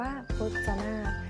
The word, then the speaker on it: พจนารถ: ว่า พจนารถ ผ่าน ว่า พจนารถ ไม่ ออก เสียง เรือ เช่น กัน ค่ะ ส่วน คำ ว่า ปาก